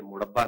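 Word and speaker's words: مربہ: میں تو ابا جی کے لیے گاجر کا مربع لے کر آئی ہوں. ارے یہ مربع نہیں ہوتا, مربع ہوتا ہے, مربع.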